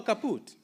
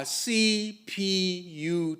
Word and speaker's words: CPUT: Don't take shortcut and say Cut. No, it's not. It is C P U T.